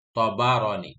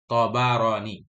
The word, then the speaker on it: Tabarani: Dhabitnya bi fathit ta'i wal ba, dengan fathah ta dan ba. Tabarani, bukan Tabarani, Tabarani.